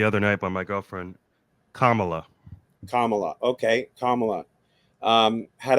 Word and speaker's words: Kamala: just corrected the other night by my girlfriend Kamala Kamala okay kamot um had absolutely no um